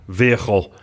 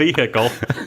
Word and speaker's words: vehicle: Hickel stop this dial that's not how that word is how do you say it so I see you know how you said vehicle nope no guys no one says the H you know what says